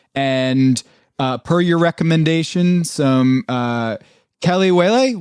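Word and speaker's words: kelewele: per your recommendation, some Kelly-wele. How did I pronounce that? Yeah, you said it better. You said it better than me. Perfect. Yeah, Kelly-wele.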